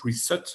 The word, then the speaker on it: Reset: C'est-à-dire effectivement au Great Reset, au Great Reset en fait, puisqu'il faut, c'est un S, c'est pas un Z.